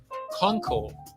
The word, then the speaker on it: Kounkel: Kounkel. Do not use the U. The U is just there for you, but it is not there in terms of pronunciation.